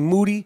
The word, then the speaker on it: Moody: with me and G Moody last name rhymes with Duty tickets are available at